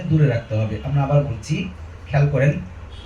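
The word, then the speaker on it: ب: বা বা বা বা। আমরা অনেকে এই বা বর্ণটিকে আমরা ইমালা করে বলি এইভাবে, ব্যা ব্যা, অত মাঝখানে এনে বলি ব্যা ব্যা, এরকম বলবো না, আমরা উচ্চারণটাকে ছেড়ে দিব।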